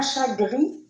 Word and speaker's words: chat gris: Exemple, vous avez ici un chat gris. Regardez, vous avez la lettre T, la lettre S que je n'ai pas prononcée.